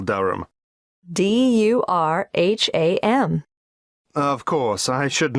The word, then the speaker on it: Durham: How do you spell Durham? Durham. Of course, I should know that. But it's just one of those names that sounds quite different from the way you spell it.